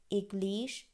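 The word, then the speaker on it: église: এগলিশ, equal, আখেপোখ, ওপিতাল, ওতেল, আখদবুশ, Eugene.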